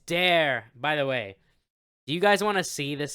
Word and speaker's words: Dare: like it's there but because of the way Sean Ryder pronounces it he says it's dare you know what yeah it's